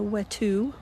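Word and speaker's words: wetu: have one does it the wet two which is what it's pronounced has been left uncovered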